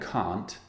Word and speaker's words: can't: Now, can't is an interesting pronunciation because in American English, it sounds like can. It sounds like the positive form. I'll try and imitate an American accent. Not very good, but I'll try. So Americans say can for the positive and can for the negative. But in British English, can and can't sound very different, as you can hear.